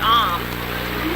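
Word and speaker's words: Ogham: It's the Om symbol, that's O-G-H-A-M, but it's pronounced Om, for the beech tree.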